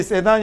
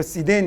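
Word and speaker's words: sedan: 그러냐면 cdn 이라고 합니다 얘는 발음이 세단이 아니고 c 된 이에요 뒤에 스트레스가 이 흠 절이 있습니다 그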